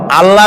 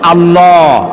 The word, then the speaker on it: আল্লাহ: মানে কি গু বলেন কি গুণাবলিতে বিশ্বাস আল্লাহর নাম আল্লাহ বলেন তো আল্লাহ নয় কিন্তু আল্লাহ হচ্ছে অশুদ্ধ শুদ্ধ হচ্ছে আল্লাহ বলার সময় মুখটা গোল হয়ে যাবে বলেন তো